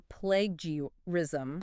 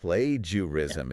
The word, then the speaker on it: plagiarism: stumble over this one is it plagiarism or plagurism plagurism plagurism plagiarism is the correct pronunciation I play jism